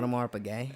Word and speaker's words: Audemars Piguet: Like how do you pronounce that again? Audemars Piguet.